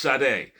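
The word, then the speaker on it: Sade: And uh like her shade and it is pronounc pronounced shade. Now I'm going to just say this because this is my opportunity to talk about it. People say it's shardet shady.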